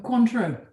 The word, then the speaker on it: Cointreau: It's pronounced Cointreau, not Cointreau. Oh, good. Go on, say it again. Cointreau, Cointreau. Cointreau. not Cointreau. Cointreau. Cointreau. Did you get that? Cointreau. Is it? How'd you say it? Cointreau. Cointreau. Yeah. Stress Con- on the syllable.